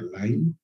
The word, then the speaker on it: Lyme: De Lyme, pero se pronuncia Lyme, ¿no?